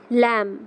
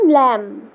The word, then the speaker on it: Lamb: লিখেছেন Mary ল্যাম। উচ্চারণটা কি বললাম? ল্যাম।